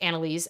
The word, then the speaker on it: NNLS: NNLS, pronounced Annalise, has said, this is in Western Australia, says, most of my shopping has gotten more expensive.